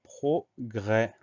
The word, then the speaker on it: progrès: Donc progrès, on fait attention au son E qui s'écrit E accent grave, et au S muet à la fin du mot, progrès P-R-O-G-R, E accent grave, S.